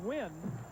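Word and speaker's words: Nguyen: It's pronounced Win. Doesn't look like it, but he's a Vietnamese.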